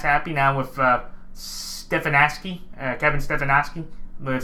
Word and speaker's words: Stefanski: Now with Stefanski, Kevin Stefanski, that's how you say it.